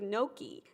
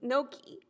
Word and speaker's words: gnocchi: I'm not pronouncing the G on any of these. You see? Nudie and so is there a G on nudie? Yeah. Gnudi? Yeah. So it's like gnudi and gnocchi.